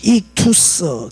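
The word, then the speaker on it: ἰχθύς: 발음 나누죠. 그래서 익투스 이렇게 읽거든요.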